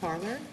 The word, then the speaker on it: Parler: very good Mr Nevan Mr oh do I pronounce it correctly parlor yes okay good morning may it please the court parlor for the dakman respondents I'll be addressing the